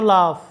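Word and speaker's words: laugh: বাংলা অর্থটা হচ্ছে খসড়া এখানে জি এইচ এর উচ্চারণ কিন্তু ফ এর মতো হয়েছে। এরপরে দেখো লাফ যেটার বাংলা অর্থটা হচ্ছে হাসি এরপরে দেখো কাফ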